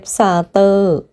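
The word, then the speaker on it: Satur: Jeff Satter. Jeff. Jeff Satter. The sound. Way to pronounce the. Just like the letter T in star or in the system.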